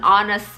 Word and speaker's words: honest: An apple, an actor, an interesting topic, an honest man. Honest, meskipun dia diawali dengan huruf konsonan, huruf H, tapi bunyinya itu vokal guys. Karena H-nya itu diam, H-nya itu tidak diucapkan. Honest, bukan honest.